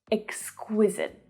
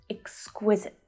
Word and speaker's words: exquisite: Now, the stress here is on the middle syllable, and at the end, often when a word ends in an E that's silent in English, often it extends the vowel sound out, but not here. This last syllable is really short.